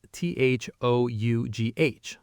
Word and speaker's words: though: The word though is spelled T-H-O-U-G-H, but pronounced though.